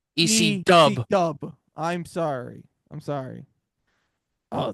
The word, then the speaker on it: ECW: would get to as ECW ECW because they were You want to know what You want to know, Bobby? You have to say it right. How the crowd says it EC Dub.